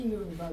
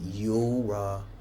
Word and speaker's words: Yoruba: I'm a proudly Yoruba babe. A what? Yoruba. Say it slowly. Yoruba. Yoruba.